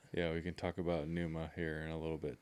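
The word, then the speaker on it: Pnuma: a hunting clothing yeah which is spelled p n u m a mhm Puma Puma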